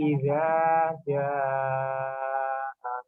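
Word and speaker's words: إِذَا جَاءَ: Ya, Iza dibaca panjang 2 harokat karena itu bacaan matobi. Kemudian di atasnya ada seperti layar, itu tanda bahwa dibaca panjang. Nama bacaannya adalah mat wajib mustaqil. Bacanya 2,5 harokat. Ya, 2,5 alif, nah ya, 2,5 alif atau 5 harokat.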